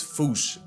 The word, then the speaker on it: fossa: What if I told you both are technically wrong? Because their name comes from the original Malagasy word, and apparently the correct way to say it is Foosh. Foosh. Like Foosh with a performance anxiety at the end. Experts feel free to correct me, but apparently that is the closest to the OG Malagasy pronunciation.